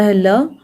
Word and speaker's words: hole: एच को पढ़ेंगे ह, ओ को पढ़ेंगे ओ, एल को पढ़ा जाता है ल, ई रहेगा साइलेंट, तो ये हो गया होल, मतलब छेद।